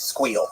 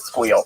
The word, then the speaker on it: SQL: It's squeal. Squeal. You squeal. Squeal. Squeal. I think it's the correct way. Squeal. I did sequel because I didn't, you know, I didn't know the audience.